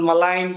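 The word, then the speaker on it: malign: आपको जिस तरह से बहुत सारे स्टूडेंट को दिक्कत होती प्रोनाउंसिएशन किस तरह से किया जाए, like budget D silent and मलाइन ji silent, तो इसमें pronunciation first we start from pronunciation.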